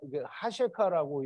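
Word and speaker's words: חֲשֵׁכָה: 흑암은 하셰카라는 말인데요. 호셰크와 같은 그 계열의 단어고요. 은혜가 붙었기 때문에 호셰크의 은혜, 하셰카라고 읽고요.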